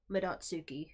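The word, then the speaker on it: Madotsuki: Probably Midotsuke. It's probably how it's Well, pronounced. No, we looked it up, and it is Midotsuki.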